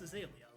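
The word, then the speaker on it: Azalea: would just aala Town how do you pronounce that I I always said aala or aelia or aelia it is aelia right aelia okay because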